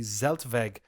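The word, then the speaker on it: Zeltweg: in 1970 the Z I believe it's pronounced the zeltvague Airfield circuit was the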